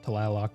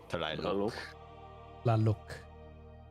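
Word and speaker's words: Tlaloc: my inventory in fact the correct pronunciation of talok is talo T luk it is of Aztec descent okay it is a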